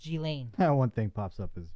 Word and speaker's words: Ghislaine: I can still barely pronounce Ghislaine. G-Lane. If I didn't say Jizz all the time, I would be lost. G-Lane.